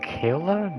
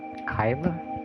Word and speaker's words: Kayla: Wait, so it's pronounced Kayla, not Kyla?